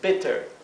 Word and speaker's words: better: antes se adquiera su pronunciación corta esto se pronuncia entonces better Si en lugar de dostes tuviéramos una sola